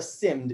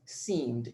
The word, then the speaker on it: seemed: say you said and instead of simmed it should be seemed it seemed because there is double e and it's very important